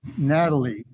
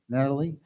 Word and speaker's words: Natali: name I'm I am Natalie actually you you are used to get a lot of letters from people saying M Natalie but it's really Natali and ital in Italian